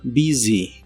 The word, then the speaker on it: busy: y usaremos la palabra busy que significa ocupado atareado o si hablas de un lugar puede ser concurrido o con mucho movimiento la u de esta palabra se pronuncia como I corta y la s se